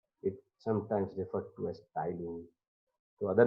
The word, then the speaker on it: ptyalin: It sometimes referred to as ptyalin. So other name of salivary amylase is ptyalin. The spelling is P-T-Y-A-L-I-N, where P is silent, it is spoken as ptyalin.